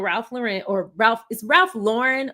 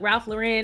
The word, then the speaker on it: Ralph Lauren: We can continue the conversation, because I usually go to Ralph Lauren, but I did a modeling campaign with them a long time ago.